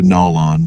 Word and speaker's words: Nolan: I was on Earth the pronunciation was just a bit different as I recall closer to null on but more or less the same somehow that makes me